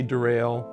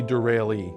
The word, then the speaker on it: Derale: do you say it a lot of people say derail and a lot you know so we get all kinds of different names but it's it's actually derailee but the name came from